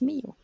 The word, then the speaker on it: Mio: It wasn't Milo, it was Mio.